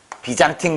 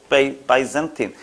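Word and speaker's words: byzantine: 비잔틴 그럴 줄 알았더니 비잔틴 양식에서 유래한 거 바이젠틴.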